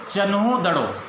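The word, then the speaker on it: Chanhudaro: तो what is द इट इज the pronunciation in Hindi, it इज, आई लेट you know, it इज चन्हू-दड़ो, इट इज चन्हू-दड़ो। Hindi के अंदर जो इसका pronunciation दे रखा है, वो दे रखा है चन्हू-दड़ो।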